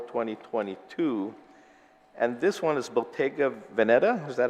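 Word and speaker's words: Bottega Veneta: one June 24 2022 and this one is Bottega venetta is that how we pronounce it that's that's oh yes sir yeah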